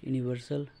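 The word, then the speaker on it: universal: দেখো question number 61, that the earth is round is dash ইউনিভার্সাল truth. এটা দেখো এটা ইউনিভার্সাল, এটা যদি আমরা উচ্চারণ করি, প্রনাউন্সিয়েশন করি, ইউর মতো হয়ে যাচ্ছে কিন্তু ইউনিভার্সাল।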